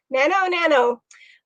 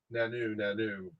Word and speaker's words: Nanu: Okay, Nano. I think she meant, or he, Nanu, as in Mork and Mindy.